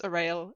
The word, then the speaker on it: Orael: the first question is, how do you pronounce Orael and Aonia? Like that.